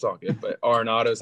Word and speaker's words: Arenado: But Arenado is how you say it.